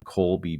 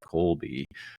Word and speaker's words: Kolbe: be a six-part series on the kby system that's spelled k o lbe and if you haven't looked at the Colby before and if you're like me and love